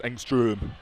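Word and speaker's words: Ångström: Angstrom with an umlout. So, it's Angstrom. Get get our pronunciation right.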